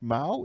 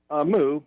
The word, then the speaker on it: Moo: I believe it's pronounced Mao. Is that correct? Moo. Moo? Moo.